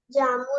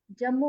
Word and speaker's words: जम्मू: जम्मू होता है बेटा वो, जम्मू। अलग अलग दोनों की प्रोनाउंसिएशन भी अलग है, अलग अलग बुलाते हैं और अलग अलग लिखते हैं।